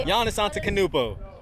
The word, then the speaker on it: Antetokounmpo: Giannis Antetokounmpo. All right, yeah. Say it. Antetokounmpo?